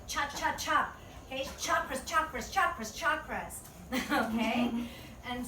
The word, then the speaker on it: chakra: actually okay and then ch is never an S sound we already have 3 s's so chakra is not the way you pronounce chakra it's like cha cha cha ok chakras chakras chakras chakras okay